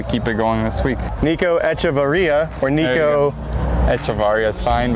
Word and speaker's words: Nico Echavarria: Nico Echavarria, or Nico Echavarria is fine, but Echavarria. How do you say it? Nico Echavarria. All right, Nico Echavarria, right here.